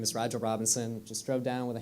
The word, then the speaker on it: Rigel Robinson: Next up, we have Rigel Robinson from the UC Student Association. Pronounced it correctly. Thank you so much. All right. Hi, good afternoon. My name is Rigel Robinson.